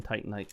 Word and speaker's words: Titanite: Want those Demon Titanite shards, or Demon Titanite chunks, or what? Just Demon Titanites. Titanite, I think is how it's supposed to be pronounced. Titanium, Titanite.